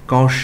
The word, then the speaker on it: cosh: hyperbolic function here and the proper way to pronounce this is cosh X sine X dynamics etc I can check